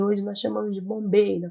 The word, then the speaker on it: Bombay: Índia, na cidade de Bombaim, e hoje nós chamamos de Bombay, na pronúncia, mas algumas literaturas também chamam de Bombaim.